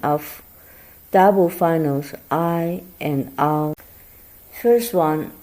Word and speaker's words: ai: Actually, it's a combination of ah and E, but you shorten distance between these two pronouns.